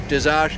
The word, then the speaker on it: Dezosh: And I got that pronunciation right because I just asked. I think Oshkosh, Dezosh kind of works for me anyway.